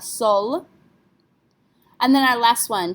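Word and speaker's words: seul: Yes, we have to pronounce this one as well. Remember, careful letters are C, R, F, and L. So we have sol.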